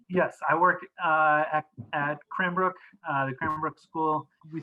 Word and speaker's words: Cranbrook: you work which is crankbrook academy am i pronouncing it correctly yes i work uh at cranbrook uh the kramerbrook school we start with essentially